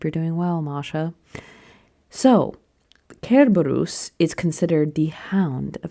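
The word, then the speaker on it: Cerberus: So why do I say Kerbarus? Some people say Cberus. I say Kerbarus because historians have proven that in Latin if a word starts with a C, it's a hard C.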